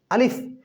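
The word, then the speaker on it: ألف: আলিফ। এই শব্দটার এই হরফটা এই হরফটার উচ্চারণ এভাবে হবে যে আলিফ।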